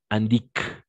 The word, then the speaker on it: indiquent: Donc, les adverbes de fréquence indiquent, d'accord? Indiquent jusqu'à là la fréquence à laquelle c'est, de la même façon, ENT, on ne prononce jamais, se produisent ou se produisent.